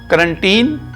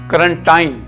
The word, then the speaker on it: quarantine: ہیں، if someone pronounce quarantine اور if someone pronounce quarantine, both ways are correct۔ ناظرین محترم، یہ جو